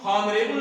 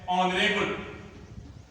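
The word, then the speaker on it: honourable: यच, इसको हम हावर नहीं पढ़ते, इसको हम हॉनरेबल नहीं पढ़ते हैं, इसको हम हॉनेस्टी नहीं पढ़ते हैं, इसको पढ़ते हैं आवर। इसका उच्चारण है आवर, आवर। इसका उच्चारण क्या है? ऑनरेबल, ऑनरेबल। और इसका उच्चारण है ऑनेस्टी।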